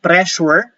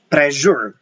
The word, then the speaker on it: pressure: But the word pressure, take a look at that. Pressure, it is spelled with two letter S. So we do not pronounce pressure. We say pressure.